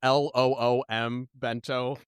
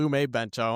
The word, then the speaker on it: Lumebento: script that references Lumebento, I have to write out LOOM bento, so that when I read it, I don't mispronounce it. Because I just want to call it Lumebento. I think because bento's a Japanese word.